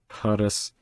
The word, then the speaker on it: Փարես: Okay, so this is not an F. This is an equivalent of an F, but it's not pronounced as an F. It's pronounced as an aspirated P.